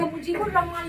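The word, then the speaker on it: مجیب الرحمن: अब यहाँ देखिएगा आप कि यहाँ पे मुजीबुर रहमान लिखे तो मुजीब अल रहमान करके लिखे। कहने का मतलब है कि हम डायरेक्ट बे के बाद रे को प्रोनाउंस किए। अलिफ और लाम तो लिखा है, लेकिन ये अलिफ लाम क्या है, साइलेंट है, इसकी आवाज नहीं आ रही है।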